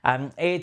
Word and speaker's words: Heir: Not Hair, I keep saying hair because it's spelled with a H, but Heir to the Empire.